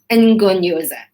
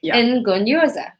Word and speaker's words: Ngonyoza: NGONYOZA. I got it, guys. NGONYOZA.